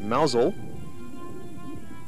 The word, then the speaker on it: Mousehole: its name which is mous hole the locals pronounce it mousel and it's got a